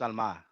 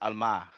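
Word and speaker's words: עלמה: It's That's Alma. why It's Alma. Ha It's al Alma. That's how you mahara. pronounce it. It's Alma.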